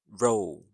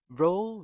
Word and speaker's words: row: Row rhymes with go which means a line of things. Another sentence. They had a loud row at the restaurant. So here the word r o w rhymes with cow.